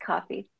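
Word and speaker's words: Ko-fi: Is it coffee or Kofi? I would never know how to say that. It's pronounced coffee.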